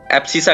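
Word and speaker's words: abscissa: X coordinate को एब्सिसा कहते हैं, ठीक है। एब्सिसा कहते हैं, है ना। एम सी श प्रोनाउंसिएशन ऐसे करेंगे, है ना।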